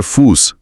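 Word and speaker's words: Fuß: एक तेज तीखी स की ध्वनि और सबसे महत्वपूर्ण नियम कोई भी जर्मन शब्द बीटा से शुरू नहीं होता। यह हमेशा शब्द के बीच या अंत में ही आता है।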